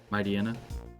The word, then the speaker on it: Mightyena: Mightyena? Yeah, that's what I say too. I think it might supposed to be like Mightyena, like hyena.